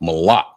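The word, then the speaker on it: מלח: So like I said, the first word was salt, and it's pronounced malak.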